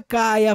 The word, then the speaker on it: Kaia: citen finch ela também deriva da palavra grega para e que seria a pronúncia cai reforçando ainda mais nossa crença No Poder da conexão web3 Além disso cai a ressoa fonética com Gaia a antiga deusa grega da